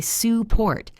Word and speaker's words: support: Take the word support. We say support.